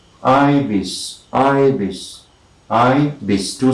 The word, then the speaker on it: ibis: ibis it is written the spelling is i b i s and it's pronounced ibis ibis i this two syllables i bis ivis